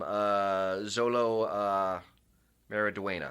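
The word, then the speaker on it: Xolo Maridueña: And I think the actor playing him, Zolo Mariduena, I think is how it's pronounced.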